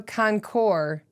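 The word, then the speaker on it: Concours: get it at Colorado concore yeah and it's an S it's a silent s okay but the S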